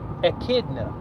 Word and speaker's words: echidna: birth to one of their children is called echidna now listen to this echidna is spelled e CH I D and E echidna